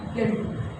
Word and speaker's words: guild: इसी तरीके से GUILD, आई हमारा क्या है वॉवल है, यू के बाद आ रहा है तो यू क्या होगा हमारा साइलेंट, तो इसको क्या पढ़ेंगे हम गिल्ड।